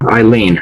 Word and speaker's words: Alainn: This one, instead of the word Eileen, this is how you pronounce it, Eileen, but no one could pronounce that, so I changed that to suddenly.